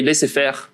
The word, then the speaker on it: laissez-faire: And we see that usually it leads to a, pronounced the French way, laissez-faire approach. And indeed, in a sense,